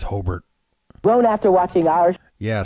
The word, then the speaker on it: Hobart: would pronounce it but if you're from the area it's pronounced holbert are your